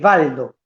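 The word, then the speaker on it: Waldo: viene de Pedro Baldo o se escribía con con w pero se pronuncia B Baldo como Volkswagen también se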